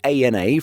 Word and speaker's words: ANA: Getting back to the Japanese carriers, we know that it's ANA from watching some of the airline's YouTube videos. ANA, Inspiration of Japan.